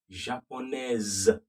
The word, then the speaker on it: japonaise: Je suis japonaise. The S is now pronounced like a Z and the E comes. Okay, are we getting that?